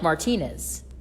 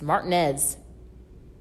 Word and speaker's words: Martinez: It's like I was going to Augusta one time and there's a town that's like, looks like Martinez. No, that's not how you pronounce it. It's Martinez. Alrighty, Martinez, it is.